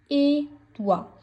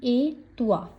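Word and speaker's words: et toi: मर्स ए तुआ। सो ए का मतलब होता है एंड। इसमें टी नहीं बोलेगी। ओनली ए तुआ मींस एंड यू।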